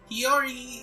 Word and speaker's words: Chiori: I just pronounce her as Chiori. I think that's the way they pronounce her name. Chiori is actually the first